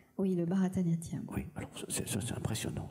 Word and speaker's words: Bharatanatyam: Alors, j'essaie de le prononcer correctement, parce que je l'ai écrit Bharatanatyam. Oui, le Bharatanatyam.